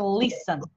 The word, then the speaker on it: listen: Произносится, ребята, смотрите, это слово listen можно как без т произносить, можно и с т произносить, да? Но чаще говорят без т, просто listen.